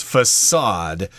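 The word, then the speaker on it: façade: older building and usually it has a little squiggle there underneath the C there so that means the C is pronounced s facade the front part of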